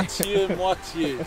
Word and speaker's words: moitié-moitié: Moitié-moitié, so it's half-half.